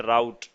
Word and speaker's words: route: ठीक है, एक रूट जो है, रूट हम उर्दू में बोल देते हैं, in English we call it राउट।